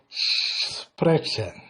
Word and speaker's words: sprechen: In German we say lesen, schreiben, hören und sprechen. When you pronounce SP or SP, you say sh. So here the pronunciation for sprechen.